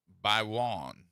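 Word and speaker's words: Gbaiwon: They say that the uh g in her name is silent. So, it's Marian Gbiwon.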